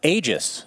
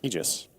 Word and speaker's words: Aegis: What about Aegis, Cinderin? Aegis. It's Aegis, yes, technically. Okay, but Ice Frog himself said, no, I want everyone to mispronounce it as Aegis.